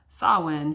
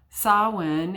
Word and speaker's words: Samhain: will be decorated in honor of sawwin so if you're not familiar with that word it's spelled it looks like it's the word is samhain sawin is a celtic uh